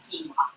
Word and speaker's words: quinoa: Keen, like you're keen. Are you keen on quinoa? It divides people a lot. You know, some people love it, some people aren't so sure, other people haven't tried it, but yeah, quinoa. And some people call it quinoa. Quinoa, which is odd, isn't it? It's odd. It's not right. It's quinoa. Think about, yeah, that's nothing